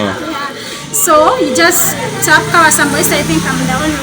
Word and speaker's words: Kabashambo: It's Kabasambo. Okay, it's written in Victoria, where they'll pronounce it in Nyanko. Yeah, I know. Yeah. So you just tap Kabashambo.